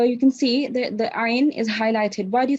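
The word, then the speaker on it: ع: It's about the ayn itself. What type of, how do you pronounce this letter? Ayn. So from your middle of your throat, correct?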